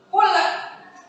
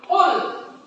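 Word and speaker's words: قُلْ: huruf lam yang sukun maka membacanya tidak boleh mantul ya tidak boleh mantul itu gimana bukan betul ya mantul itu kul Nah Tapi harus dibaca dengan bacaan yang bulat Qul Qul bukan Qul Ya qu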